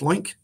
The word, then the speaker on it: LOINC: So that particular LOINC code, and it is, ironically enough, it is pronounced LOINC. Their logo is a pig, and they just thought that was funny. So and you can read the blog post about how that evolved.